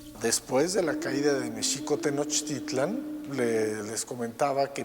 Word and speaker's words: México-Tenochtitlan: que les comentaba que méxico así es como se pronunciaba en el méxico prehispánico la equis no se pronunciaba ni o nicks sino el acento estaba en la segunda sílaba méxico-tenochtitlan no tenochtitlan esa es la pronunciación prehispánica que después fue también